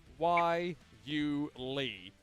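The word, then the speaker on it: guayule: rubber derived from the wuli shrub which requires less harvesting than traditional sources of rubber yeah we a good y u Lee that's how they phonetically spell it out as well find it in northern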